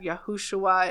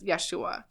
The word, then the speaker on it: Yeshua: say that there is absolutely no evidence that yahushua is the correct pronunciation and it really is Yeshua I just thought that was really interesting cuz